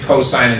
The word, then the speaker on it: cosine: That's pronounced sine, cosine, and tangent, but we abbreviate them sin, cos, and tan. Please don't call them sin, cos, and tan. Sine, cosine, tangent.